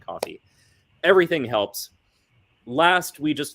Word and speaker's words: Ko-fi: Yeti on Patreon or Ko-fi, however you want to pronounce it. I pronounce it coffee.